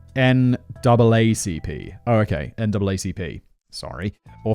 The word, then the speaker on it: NAACP: naacp note to simon always pronounce america's n-double-a-c-p oh okay naacp sorry